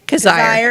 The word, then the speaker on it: Kazire: Kazire. It rhymes with desire.